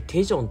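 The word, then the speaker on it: 대전: てきましたこれ太田駅と書いてテジョンという風に読むそうです太田駅って何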